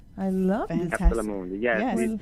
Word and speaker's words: Capsula Mundi: Capsula Mundi. Capsula Mundi. I love it. Capsula Mundi. Yes, Yes. It is a Latin construction.